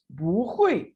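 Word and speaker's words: 不会: यहाँ पे देखें हुई के ऊपर फोर्थ टोन है, नेचुरली बू के ऊपर भी फोर्थ टोन होती है, लेकिन जब आप प्रोनाउंस करेंगे तो बू के बाद फोर्थ टोन होने की वजह से बू की टोन चेंज होकर सेकंड में कन्वर्ट हो जाएगी। और कैसे बोला जाएगा? बू हुई।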